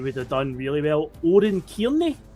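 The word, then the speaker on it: Oran Kearney: Oren Cairney, I believe it's pronounced.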